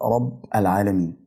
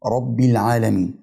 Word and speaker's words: رب العالمين: الحمد لله رب العالمين الراء في كلمه رب مفتوحه والباء مكسوره رب العالمين الكسره اللي في حرف الباء الاخير في كلمه رب مع الالف كلمه العالمين بقربهم من بعض في النطق بحيث ان هم يتلزقوا في بعض حاجه كده انجاز